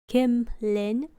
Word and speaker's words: Kimlin: My name is Kimlin, pronounced Kimlin. I guess if I say it really fast, some people will misheard me for Kimberly or Kimberlin.